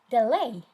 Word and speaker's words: delay: Delay. D is the first syllable and lay is the second syllable.